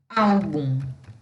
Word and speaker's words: álbum: Então, eu tenho, por exemplo, a palavra álbum. Álbum, eu tenho o bum, que é a última sílaba, e o ao, que é a penúltima sílaba, e é ela que é a sílaba tônica.